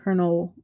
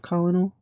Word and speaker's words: colonel: The report is 29 pages long and was written in 1983 by Lieutenant Colonel Wayne McDonald. I think it's colonel, right? Not colonal, even though it's spelled colonal, but I think of like KFC and they're like, "Check with the colonel."